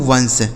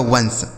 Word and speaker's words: once: ONCE इसे पढ़ा जाता है दोस्तों वंश। ठीक है, यानी जो इसका प्रोनाउंसिएशन होता है वह होता है वंश।